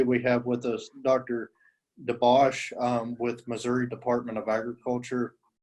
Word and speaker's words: DeBauch: So my name's DeBauch. I know it's a little deceiving on how it's spelled, so no worries.